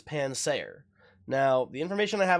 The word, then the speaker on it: Pansaer: Not Panseer, not to be confused with the little cooking fire monkey from Pokemon. This is not Panseer, this is Pansaer.